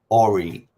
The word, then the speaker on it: Allreet: Or eat.